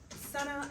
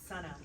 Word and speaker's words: SunAh: SunAh, and that is how you say it. It's SunAh, like the sun. SunAh.